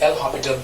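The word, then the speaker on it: L'Hôpital: एल हॉस्पिटल rule जिसको कहते हैं, actual pronunciation is एल हॉस्पिटल rule.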